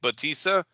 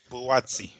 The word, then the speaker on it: Buatsi: The Smith Bautista, is that how you say his name? Buatsi.